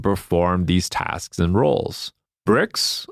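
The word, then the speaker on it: Brix: these tasks and roles bricks which is spelled BR R iix bricks values are a way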